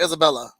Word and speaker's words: Isabel: Am I pronouncing Isabel or Isabella?